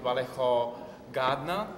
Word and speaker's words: Vallejo Gatner: having the opportunity to talk with you, with Vallejo Gatner. That's correct. The pronunciation was correct.